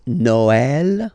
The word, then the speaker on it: Noël: that in some cases you will have to pronounce it like eh, okay, like for instance Noël, okay, but then in some cases as well it can be pronounced like e, okay.